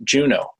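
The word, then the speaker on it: JUUNO: u u n Oh way point would be pronounced Juneau the proposed fight procedures are color-coded purple for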